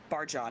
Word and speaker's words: Barjan: According to the back copy, Barjan, am I correct pronouncing that correctly? Yes, that is correct.